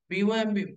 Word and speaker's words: bomb: Whenever you find the letter MB, the letters MB at the end of any English word, the B must be silent letter. WOMB, womb. TOMB, tomb. BOMB, bomb.